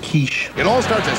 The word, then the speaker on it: quiche: most jam-packed comedy on tv can have a quickie it's pronounced quiche it all starts at 7 6 central fox